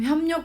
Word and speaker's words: 협력: 자, 협력은 조금 특이해요. 협력이라고 발음하지 않죠? 자, 얘는 어떻게 해서 이렇게 되냐면 일단은요. 얘는 자, 여기야 비읍하고 리을이죠. 그러니까 여기에 지금 비음이 없어요. 비음이 없는데 어떤 현상이 벌어지냐면 비읍 뒤에서 리을이 니은으로 바뀌어요.